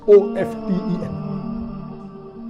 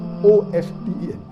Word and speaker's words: often: Some will say often, some will say often. Previously it was often, then it became often. Now new people are saying no, often is correct. T is not silent, it should be pronounced. Some say T is silent, and then there's a big debate for that.